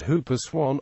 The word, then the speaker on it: whooper swan: The whooper swan, pronounced hooper swan, is a large northern hemisphere swan.